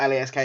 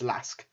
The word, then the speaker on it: LASK: this with this apologies i've been saying it wrong it's not lask it's lask looks like it will